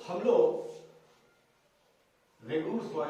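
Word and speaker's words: Regur: I think it should be रेगुर soil. You करके यू थोड़ी बोलते हैं, तो रेगुर, हाँ स्पेलिंग याद रखना तो लंगूर याद रखना, लेकिन लंगूर का डबल ओ नहीं है, इसमें यू है।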